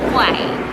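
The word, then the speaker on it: กล้วย: Dan ramai yang tanya kami, sebut dia macam mana? Kuih, kuai, dan maksud sebenarnya adalah pisang dan pronounce dia adalah kuai.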